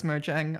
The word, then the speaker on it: Mojang: Because Mojang had been kind of I'll repronounce that as Mojang. I got into the habit of saying Mojang like back in 2011, Oh and I boy, have never gotten out of it.